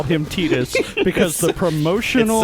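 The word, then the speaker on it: Tidus: when I call him Titas because the promotional it's video that came with my final fantasy Spirits Within soundtrack said tedious I know look he's the the official pronunciation on that is tedious for some reason and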